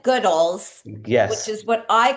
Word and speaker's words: Goodles: The host was calling it Goodles, rhyming with noodles. So please Before, let's clarify. We get that question all the time. Here's the official answer. We emphasize the good. Our team says goodles.